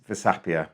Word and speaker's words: Versapia: So what is Versapia? And am I saying it right?